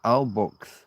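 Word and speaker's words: Albox: The place was called Albok Alb where X's aren't pronounced as X.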